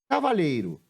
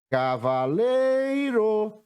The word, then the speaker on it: cavaleiro: última que eu escrevi Cavaleiro Cavaleiro Cavaleiro a sílaba que eu demorei mais tempo pronunciando foi o lei a posição dela é a penúltima e levar ser escrita